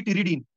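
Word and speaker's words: pteridine: एक बैक्टीरिया के पास होता है जी टिरिडीन, पी से आता है लेकिन ये पी साइलेंट होता है, so this is the first step, ठीक है।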